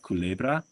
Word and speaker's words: Culebra: Now we have Culebra. Culebra is the island. and I remember this because it's kind of like someone saying cool bro.